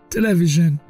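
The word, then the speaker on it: television: انگلیش بهش میگن سوفا تلویزیون که ما به فرانسه اونو تلفظ میکنیم در انگلیسی بهش میگن ت ت ت تلویژن یا تی یا تی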